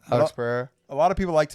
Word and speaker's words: Pereira: I think his name's pronounced Pereira. Alex Pereira.